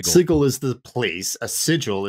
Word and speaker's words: Sigil: I say according to according to the book the second edition book it is pronounced siggle if you're a prime it's sigil if if you're you know if you're a clueless Prime it's sigil if you're if you're